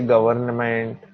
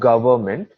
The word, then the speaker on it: government: pronunciation of the word government people say government government no it's government n is silent it's so it's gov